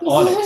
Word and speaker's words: Onyx: Onyx. Yeah, like the stone.